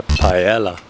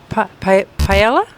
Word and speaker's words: paella: everything to make a pella. And I'm Am I still pronouncing it wrong? Pella. Paella. How do you pronounce paella? Sure. It's pronounced kind of like paella.